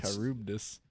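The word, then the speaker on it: Charybdis: or uh karubdis i looked up how it's pronounced okay i believe you on all of the guys yeah kyrubdis it's it's weird like is this guy new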